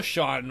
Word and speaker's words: Sean: You know Sean, right? And why is Sean not pronounced seen?